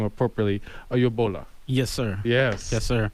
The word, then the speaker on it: Oyegbola: So I want to proud to have on the Councilman Akanni, and he told me how to pronounce his last name appropriately, Oyegbola.